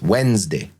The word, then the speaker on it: Wednesday: Notice if there's a stressed syllable, you know, because in longer words like Wednesday, when is the stress? Wednesday. Okay. Notice where the stress is.